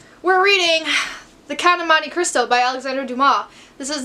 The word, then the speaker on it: Monte Cristo: way I would be I will be pronouncing at Monte Cristo cuz things don't click in my head as an Italian speaker cuz his name is Italian as an Italian speaker I know it's Monte Cristo so I'm just saying